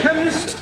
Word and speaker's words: chemist: blamey k e n chemist does not begin with a k it sounds like it begins with k CH H but but that is making it chemist no the CH is pronounced c ah now I'm understanding